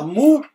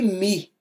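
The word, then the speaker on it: μ: a Frances não é você não fala mu e nem mi é mi ó o biquinho ó mi mi então É como se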